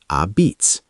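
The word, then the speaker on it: apizza: New Haven locals call their pizza a pizza, pronounced a beats.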